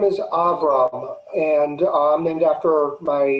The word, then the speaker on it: Avraham: would almost certainly be avraham okay so it would stop the same name and the pronunciation is going to hit that last syllable you know my name